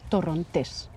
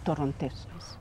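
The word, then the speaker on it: Torrontés: in Sp in Spanish we call it tones you emphasize you put the stress on the last syllable tones well let's try the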